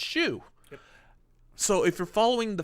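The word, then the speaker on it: Xiu: which her name is shu x i you pronounced shu so if you're following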